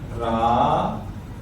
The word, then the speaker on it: Rama: Like here we have Ramaha. So in reality, we write it like Rama, but we pronounce it as Ramaha.